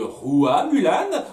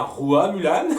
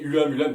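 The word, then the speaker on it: Hua Mulan: Ça a repris la légende de Rua Mulan, en l'appelant bien Rua Mulan, ce coup-ci, et pas Ua, comme je l'ai dit là, dans ma critique du film. Au tout début, hein, j'ai Ua Mulan, parce que oui, moi c'est comme ça que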